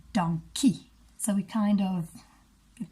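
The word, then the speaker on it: dankie: Sean Sean sorry anyway we don't say dunker in Afrikaans we say donkey so we kind of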